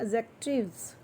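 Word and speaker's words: adjectives: वैसे तो बेटा देखो एडजेक्टिव्स, वन मोमेंट, वैसे तो इसमें डी जो होता है ना वो साइलेंट होता है, इसे बोलता है एडजेक्टिव्स, एडजेक्टिव्स।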